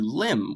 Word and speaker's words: limb: literally translates in english to limb with a silent b like a bodily member